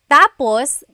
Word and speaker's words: tapos: finished so yes tapos it's a homonym it's one of those words that has a different meaning depending on the pronunciation or depending on the context of the phrase so when it's when the emphasis is at the endos that means finished when the emphasis is on the first syllable then it means next interesting there very interesting